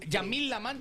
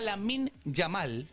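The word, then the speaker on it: Lamine Yamal: Gracias a Yamil Lam iba a decir a mí también me sale así. Gracias a la min Yamal.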